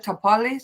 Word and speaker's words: Tapales: Tapales. I'm not sure how to pronounce his name.